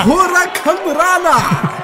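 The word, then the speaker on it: hurricanrana: Hurricane Rana. That's how it's pronounced, John Greed.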